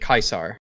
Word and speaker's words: Caesar: pronounces the seas but caesar himself pronounces it kaisar which is the original latin pronunciation which is also helpful